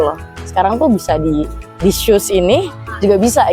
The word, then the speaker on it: SUSS: dilihat dari brand kita namanya aja shoes sebenarnya bacanya shoes gitu loh Ya itu pertama